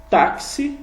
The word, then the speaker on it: táxi: caso que e um táxi som de KS então táxi som de KS